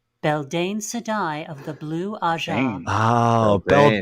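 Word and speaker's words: Beldeine: All right, K-Sai, pronounce this. What's this? Beldine Sedai of the Blue Aja.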